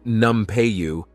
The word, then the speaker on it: Nampeyo: as an exceptional Potter her name pronounced numu roughly translates to snake